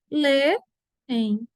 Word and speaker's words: leem: A palavra leem, eles leem, se separa. Lê-em.